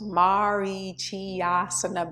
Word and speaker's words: Marichyasana: It's pronounced Marichyasana B.